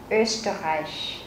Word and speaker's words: Österreich: Trọng âm rơi vào chữ O umlaut ở đầu câu. Chữ O umlaut chúng ta sẽ đọc là Ö. Österreich. Österreich. Österreich. Reich. Các bạn có thấy âm CH ở cuối, chúng ta sẽ phải phát âm nhẹ.